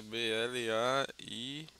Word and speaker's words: Blair: Blairi, mas é Blairi. R. Você lembra da Blair.